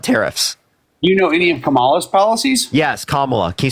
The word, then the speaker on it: Kamala: What policy does Kamala have? Period. Kamala. Wait, can we clarify that you don't know? Can we clarify you don't know any of Trump's policies but tariffs? You know any of Kamala's policies?